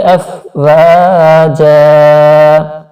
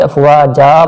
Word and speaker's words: أَفْوَاجًا: Roman میں دیکھیے افواجا، یہ اصل میں افواجن تھا، تو وقت کی وجہ سے افواجا پڑھا گیا، اس لیے یہاں پر ان جو